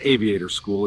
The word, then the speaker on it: Aviate Our School: Aviate Our School, pronounced Aviator School, is now building our next wave of future mechanics and aviation leaders.